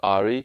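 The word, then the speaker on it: ají: I have Aji peppers or maybe it's pronounced Aari.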